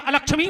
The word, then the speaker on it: अलक्ष्मी: को नाश कर दे, जबकि शुद्ध उच्चारण है अलक्ष्मी नाशाम में हम, है ना चाची?